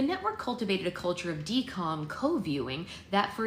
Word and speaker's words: DCOM: That conundrum begat the idea of the Disney Channel original movie, aka DCOM, pronounced D-COM, but it's spelled D-C-O-M.